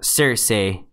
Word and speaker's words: Cersei: QA make a prediction how many episodes will Cersei Lannister it's actually pronounced Cersei but yeah last next season I think she's